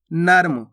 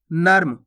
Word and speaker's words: नर्म: प्रकार से आगे देखिए नर्म कैसे पढ़ेंगे नर्म नरम नहीं नर्म मार्ग कैसे पढ़ेंगे अपन